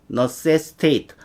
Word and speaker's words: necessitate: 동사일 때 ate 이렇게 발음이 되고요.